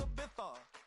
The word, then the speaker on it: Ibiza: Yeah, it's pronounced Ibiza, actually.